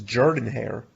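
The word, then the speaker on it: Jordan-Hare: the stadium now so i don't think j-hole because that's what people say but no someone my my uncle who's from alabama he's not from but he lived in alabama for so many years he's like no it's jordan hair that sounds like a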